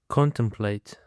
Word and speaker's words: contemplate: Now let's just get started and for the first word we have got contemplate. Contemplate. Contemplate is a three syllables and the stress on the first syllable.